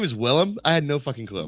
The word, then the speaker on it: Willem: Also been pronouncing it wrong for like 2 years. Willem. There you go. Willem.